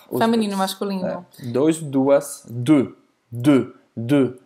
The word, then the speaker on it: deux: Você não vai pronunciar nem o U nem o X. É porque, na verdade, o E, U, E, E, E. Exatamente. Então faz a boca do O e fala E. E, E.